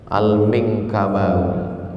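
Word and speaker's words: Al-Minangkabawi: Gimana cara membacanya? Al-Minkabawi.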